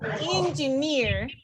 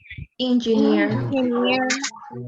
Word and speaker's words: engineer: words that and in suffixes such as ear or e stress on the final syllable like engineer engineer pioneer pioneer guarantee we're